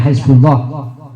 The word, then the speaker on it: Hizbullah: Bacanya Hizbullah, ya.